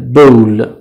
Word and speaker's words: bowl: واژه بعدی bowl او تلفظ میشه bowl bowl کاسه.